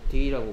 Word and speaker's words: the: 모음 앞에 더가 붙으면 더라고 발음하지 않고 D라고 발음합니다.